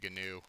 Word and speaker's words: GNU: if you don't know gnu is that's how you say it by the way gnu what it stands for